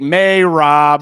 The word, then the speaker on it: Merab: You go I have to pick May Rob. That's how you say it.